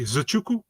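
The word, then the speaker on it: Nzechukwu: My name is Kennedy Zachuku. So okay. Zachuku. I think we might have looked up that one. It's a tough one. I've always had troubles with his. I always say Zachuku.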